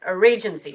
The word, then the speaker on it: Arraygency: I was trying to pronounce it Arraygency, so I did say it right.